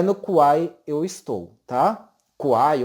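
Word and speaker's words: Kwai: Kuai ou Kauai, alguns falam Kauai, mas me parece que a pronúncia correta é Kuai.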